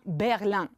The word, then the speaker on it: Berlin: Carla la capitale de l'Allemagne et berline Berlin très bien bravo la capitale de l'Allemagne on prononce Berlin Tania la capitale de